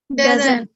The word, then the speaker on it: doesn't: Doesn't. इसमें भी T silent होता है।